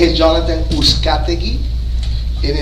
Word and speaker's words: Uzcategui: My name is Jonathan Uzcategui, and if you have a problem pronouncing my last name, it sounds like, who's got the key?